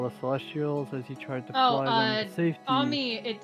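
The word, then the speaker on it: Ammy: Yumi Slaughter all the celestials as he tried Amy it it's pronounced Ami because it's just uh amr's nickname it said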